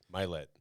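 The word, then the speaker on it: Mylett: And he was talking about a podcast how he couldn't pronounce his name correct, but he liked the voice so much that he left it because it's actually Milet.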